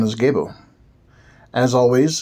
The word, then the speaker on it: Gebo: energy in the act itself this Rune is pronounced gabo the exchange of gifts whether physical or otherwise